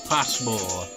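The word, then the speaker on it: Pasmo: Passmo. I'm pretty sure that's probably how it's pronounced.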